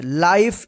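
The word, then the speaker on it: life: इसका रूल है कि जब किसी वर्ड के अंत में ई रहता है और ई से पहले वाला भोल भवेल आई रहेगा तो इस आई का आई उच्चारण होता है और इस ई का उच्चारण नहीं होता यानी ई जो है ना साइलेंट रहेगा तो यहां पे देखिए एल आई एफ ई इसको क्या पढ़ेंगे लाइफ इसको लीफ नहीं पढ़ेंगे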